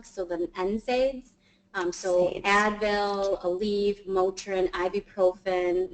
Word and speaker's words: NSAID: NSAID.